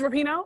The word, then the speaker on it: Rapinoe: Oh, it's Rapinoe. Okay. Because I always think that they're gonna call her Rupon, and I like Adam Rupon, and it's Rapinoe.